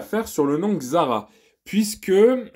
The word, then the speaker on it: Xsara: le nom Xsara puisque j'ai remarqué que les pubs d'époque appelé ce modèle Xsara et non pas Xsara donc le S se prononce ce et non pas eux et c'est quelque chose que j'ai découvert en regardant des pubs d'époque où la voiture était vendue comme étant comme étant une Sarah bon j'imagine que au niveau